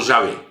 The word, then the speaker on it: Javé: Então, este é o deus da montanha, né, que vai receber quatro letrinas, Y, H, W, H, que depois, em função da vocação de Moisés, descobrimos que podia ser pronunciado como Javé, né?